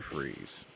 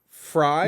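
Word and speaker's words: Fries: kilmer arnold schwarzenegger as victor freeze aka mr freeze oh sorry i always loved that it's it's pronounce fry no go yourself it's pronounced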